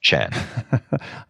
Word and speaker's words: Tjan: And my last name is spelled. But as you've done, pronounce Chan.